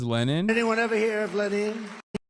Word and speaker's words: Lenin: Has anyone ever heard that's Lenin? Lenin, as they say in Russia. It's technically closer to correct than Lenin, as Americans say it.